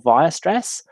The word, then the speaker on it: Weierstrass: A mathematician called Karl Weierstrass.